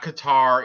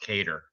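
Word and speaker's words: Kattar: that way Calvin cater it's not Qatar even though it's spelled that way I guess it's pronounced cater I've been saying it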